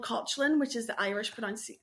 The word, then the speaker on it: Caitlin: skin tangent I was meant to be called kotlin which is the Irish pronun like Irish pronunciation of kin so it's spelled exactly the